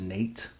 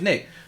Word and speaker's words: Nick: Bro, do you know how many times people have mistaken me saying my name as Nate? It's surprising how many times? A lot. A So much so that I have to overanunciate the K.